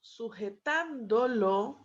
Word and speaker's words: sujetándolo: Entonces acá, obviamente gana un acento porque se le están sumando sílabas y termina convirtiéndose en una palabra esdrújula o sobresdrújula que para você sería como proparoxítona, ¿sí?